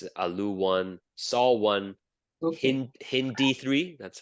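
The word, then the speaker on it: HindIII: people say this is Alo one saw one H hindi3 that's how you say it I know it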